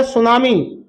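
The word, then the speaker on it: tsunami: को कहते हैं और सुनामी की जो स्पेलिंग होती है दोस्तों वो टी से स्टार्ट होती है सोना मी ठीक है दोस्तों चलिए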